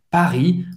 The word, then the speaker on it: Paris: Paris, hein, o R, acho que ela pronunciou bem o R é bem gutural, Paris.